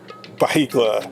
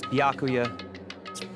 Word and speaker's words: Byakuya: Baikla. It's Byakuya. Oh, there you go. Now I know how to pronounce it.